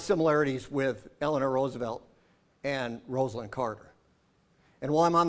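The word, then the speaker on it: Rosalynn: with Eleanor Roosevelt and Rosalind Carter. And while I'm on the subject, it is Rosalind, not like the press still pronounces it, Rosalind.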